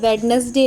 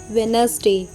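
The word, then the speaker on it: Wednesday: कुछ एक्सेप्शन भी है उसे देख लीजिए जैसे वेडनेसडे नहीं वेनसडे इट्स not sandwich sandwich handsome no handsome hand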